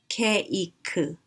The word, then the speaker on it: 케이크: Cake becomes, which is one syllable in English, becomes a three-syllable word, 케이크, 케이크. Because Koreans don't like to end a word with a consonant sound, as in cake. We have to add a vowel at the end, so 케이크.